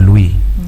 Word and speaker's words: Louis: We call it Louis in English, but the French call it Louis. Okay. Because in French, the last consonants are silent except followed with the vowel.